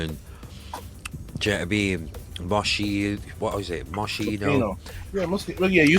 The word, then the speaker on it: Moschino: I think for us in the 90s, it was Moschino and Moshi. What was it? Moschino.